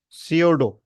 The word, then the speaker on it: pseudo: जिसको हम कहते हैं सीडो ठीक है यहां पर उसको लिखते कैसे हैं पी एस ई यू डीओ डीओ है ना लेकिन इसको पढ़ेंगे क्या हम सीडो पी इसका साइलेंट है ठीक है तो यहां